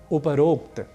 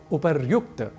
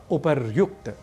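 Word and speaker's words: उपर्युक्त: ठीक इसी तरीके से एक और शब्द है उपरोक्त जो कि गलत है हमें कहना चाहिए ऊपरयुक्त ऊपर शब्द है ऊपरी वस्तुतः शब्द है और उसके बाद हम एक प्रयोग करते हैं उक्त का तो जब दोनों शब्द मिलेंगे संधि होगी तो शब्द बनेगा उपर युक्त ना कि उपरोक्त यदि ऊपर ऐसा शब्द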